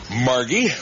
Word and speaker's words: Margie: Well, Margie, with a hard G.